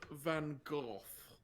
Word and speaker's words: Van Gogh: the art i like mango i believe it's pronounced van gogh oh right remind me nima did you ever